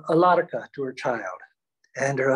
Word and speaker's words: Alarka: the child going to be and she said alarka a-l-a-r-k-a for those of you who can't catch Sanskrit to pronunciation which is difficult I find that all